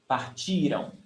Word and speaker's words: partiram: Stressed syllable before the last one. Partiram. And remember, it's before the last one, because if the stressed syllable is the last one, it's future.